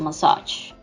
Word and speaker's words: massage: pronounce it like a massage and the stress sound in this case would come on the second syllable now let's take a